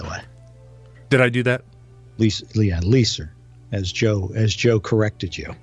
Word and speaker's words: Leiser: You're mispronouncing his name, by the way. Did I do that? Leiser, as Joe corrected you.